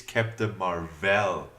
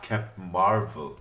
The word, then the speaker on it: Captain Marvel: mispronouncing this movie title it is Captain Marvel and not kept Marvel it explained it also